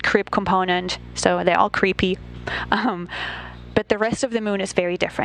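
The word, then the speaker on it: KREEP: have a weird component that we call creep and it's spelled k r e e p and Central potassium Rare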